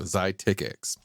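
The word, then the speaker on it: Xiticix: What always throws me off when it's spelled this way, the Z-EYE, is it makes it sound like it's Z-I because it looks like it's 2 syllables, but it really should be Z-E-E. So that should be 1 syllable. So it should be Zy. So Zytix.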